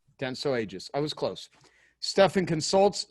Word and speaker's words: Dentsu Aegis: Dentsu Aegis. Dentsu Aegis.